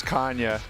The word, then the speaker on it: Canha: it actually, I mean, if we're going to be technically correct, it's Canha for the Portuguese people out there. They know how to say it, but I'm like third generation American, so we've been saying Canha for the longest time, so it would feel